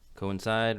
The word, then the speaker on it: coincide: pre-image and image coincide coincide rhymes with Collide that's where they all